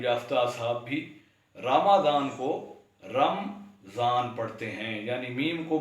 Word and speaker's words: رمضان: ہمارے اکثر تعلیم یافتہ اصحاب بھی رمضان کو رمضان پڑھتے ہیں، یعنی میم کو متحرک پڑھنے کے